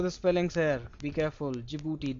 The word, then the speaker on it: Djibouti: And then four is Djibouti. Do remember the spellings here. Be careful. Djibouti.